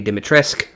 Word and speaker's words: Dimitrescu: because i can hear lady dimitrisk which apparently that's how it's actually pronounced we find that out